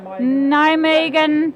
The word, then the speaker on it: Nijmegen: Nijmegen, it's pronounced.